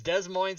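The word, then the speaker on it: Des Moines: so much Illinois yeah Illinois Des Moes Illinois just remember they rhyme that's how you do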